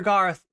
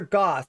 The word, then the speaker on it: goth: You just got weaseled by my dogs are Garth. Garth? Dogs are not Garth. The dogs are goth. Let's keep that straight, okay?